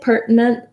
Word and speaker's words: pertinent: though of british english i say pertinent a little bit more like the word important where we use some stopped